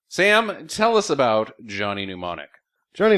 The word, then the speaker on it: Mnemonic: pneumonic it's fun to you can say it fine until you try to read it and it doesn't it's spelled so un phonetically it's spelled Johnny monom